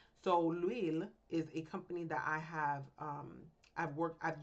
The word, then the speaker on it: L'Huile: To make the points clearer, we've created a fake company called L'Huile, pronounced L'Huile. The H is silent and it sounds like we.